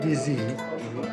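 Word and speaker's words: dizi: How do you pronounce the specialty here? Dizzy. What they serve is called DZ, which actually is the name of the pot.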